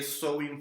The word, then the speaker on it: Samhain: Samhain, si lo quieren llamar así, pero la pronunciación es Samhain.